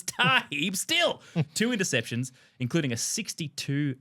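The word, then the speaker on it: Tarhib Still: name wrong wrong yeah they kept referring to him as Steels not Dante Steels it's tah not Kenny Steels it's tah steel two interceptions including a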